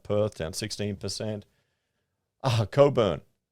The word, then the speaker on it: Cockburn: down 16 percent ah Coburn cover Etc we did a tender for that and I kept calling it cockburn you know how how